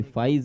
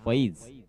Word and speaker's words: फईज: देखिए, अलग अलग तरह के नाम होते हैं, कभी फाइज भी होता है और यहाँ पे फईज पेवेकर, और इसी वजह